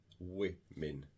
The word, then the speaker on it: women: man and wi men so even the w o is pronounced differently woman women okay woman women child